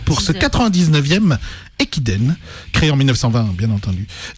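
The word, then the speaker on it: 駅伝: Japon, qui est le Ekiden, pardon, parce que je prononce mal et j'ai rajouté des H, ça sert à rien. Le Ekiden, avec l'université de Komazawa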